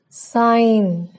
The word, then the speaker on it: sign: The letter G is not pronounced if a word ends in GN. For example, design, foreign, sign, campaign.